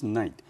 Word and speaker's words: knight: Sir Lancelot was a very famous knight in King Arthur's kingdom. 在亚瑟王时代，莱斯特是位很有名的骑士。Students be aware, here, K, we don't pronounce it, so it pronounced just like a knight.